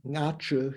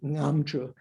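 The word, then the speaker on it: Nga Chö: Nga, it's pronounced ngam, well, like an M at the end, because the word offering,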